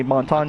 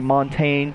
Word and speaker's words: Montagne: A lot of people say Montagne, a lot of people say Montaigne, some people just say fuck it and call him Montana.